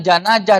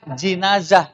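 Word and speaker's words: جنازة: Nah, bersoalan dengan janajah dan jinajah ini umumnya membaca jinazah itu lebih fasih. Nah, tapi kalau dibacanya jinajah, kalau pakai kasroh, maka artinya itu adalah keranda atau peti.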